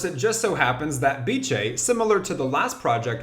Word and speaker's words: Beecheii: So yes, in this video, we are talking about Beecheii, pronounced like ceviche.